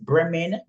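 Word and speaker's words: Bremen: say again no b r e it is bman Brean is a state in Germany Bayan yes that's why it's pronounced not Brean it's Bay oh sorry you said bman sorry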